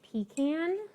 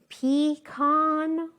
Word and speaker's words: pecan: khan or a pukkan and the majority of americans say with the con at the end so um less americans say pecan there are some americans that say pecan but the majority of americans end the word at least with the khan not the can i obviously am a